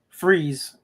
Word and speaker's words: Fries: It's like I tell you the the place out here is called uh Freeze, but it's spelled Fries, but you pronounce it freeze.